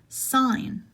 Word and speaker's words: sign: is pronounced yacht yacht sign no g is pronounced it's not its sign another silent G in designers